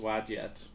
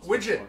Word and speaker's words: Wadjet: Oh, the goddess Widget. Wadjet, yeah, I've Wadjet. seen that. I don't Wadjet. remember where, but I've seen that name. Wadjet. That's how they say it in the Wadjet.